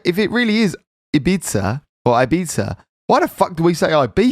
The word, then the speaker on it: Ibiza: load of abuse for saying um ibiza oh instead of ibiza because apparently all english people say i beat it yeah yeah which is i thought how spanish people pronounce ibiza but apparently europeans laugh at english people what's it supposed to be ibiza i beat sir i thought actually what are they saying is they say i beat it today that's what